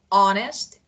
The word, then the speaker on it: honest: and sincere sincere honest just H is not pronounce here honest oh honest and sincere